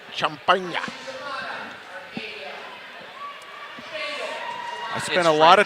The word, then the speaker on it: Champaign: I believe that's pronounced Champagne.